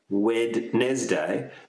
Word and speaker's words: Wednesday: day today Wednesday Wednesday the spelling you have that D Wednesday but we don't pronounce it like that we say Wednesday Wednesday